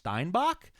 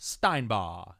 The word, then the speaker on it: Steinbaugh: Thank you so much for writing the phonetics pronunciation at the end of your name, cuz it looks like it says Ash Steinbach, but then in parentheses pronounced Steinbaugh. And so, I nailed it the first time.